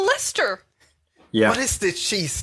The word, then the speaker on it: Leicester: of my favorite chatters leicester one of the favorite chases yeah like until we arrived in london and they kept saying lester yeah what is the